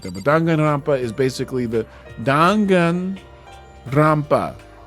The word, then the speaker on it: Danganronpa: The the pron the the correct pronunciation for Dingrampa is Danganrampa.